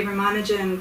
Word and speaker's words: Ramanujan: the Western world right it's often pronounced Ramanuja not so Ramanujan is how I would pronounce it and if you